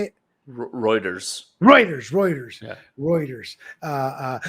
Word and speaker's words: Reuters: Rutters routers, how you say it? Reuters.